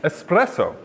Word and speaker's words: espresso: wasn't going to say the correct pronunciation is espresso it's a common misconception and he had two